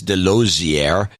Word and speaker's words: Delozier: smoking hot wife Denise delozier rhymes with enclosure who will be celebrating